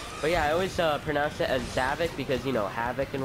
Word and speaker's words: Zavok: So it only took me until this game to find out that it's actually pronounced Zavok.